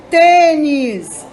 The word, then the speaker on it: tênis: a sílaba mais forte tênis o tem é a sílaba mais forte boné o né é